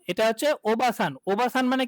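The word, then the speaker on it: おばあさん: কিন্তু এই যে দেখেন, ও বা আ, ওবাসান, এটা ন। তাহলে এই যে ওবাসান, তাহলে ও বা আ, এই যে এখানে দেখছেন না আ, এ আটা হচ্ছে একটা টানের কাজ করবে। ও বা আ সান হবে না, কি হয়ে যাবে?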